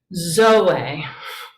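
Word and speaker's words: ζωή: in whiz dumb um zoe zoe so this is not a diphthong this is two vowels so they look both like consonants in english um this is two vowels making two different sounds zoe that's an omega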